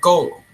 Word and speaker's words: GOL3M: known as Gomes or as it's spelled gol 3m which in turn is called goal now I will teach